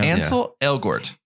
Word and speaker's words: Ansel Elgort: How do you pronounce his name? Gretel. Ansel? Ansel Elgort? I think it's Ansel Elgort. Yeah. Ansel Elgort.